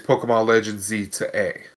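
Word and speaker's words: Pokémon Legends: Z-A: So, it's because the way you actually pronounce it is Pokemon Legends Z to A.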